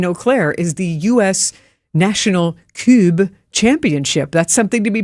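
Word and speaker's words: Kubb: It's spelled K U BBB. So it looks like cub and I I watched the demonstration video. I thought it was cube. You can hear that funny pronunci.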